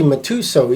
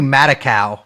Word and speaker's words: Matusow: That's how you pronounce it? That's how I pronounce it. How My do you God, I've been pronounce it? calling him Harvey Matakow, but Matusow sounds actually like her name.